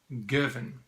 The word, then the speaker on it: Girvan: did a bit of research and apparently you pronounce it Gervin so this whisky from the Gervin distillery the Gervin distillery I've got a picture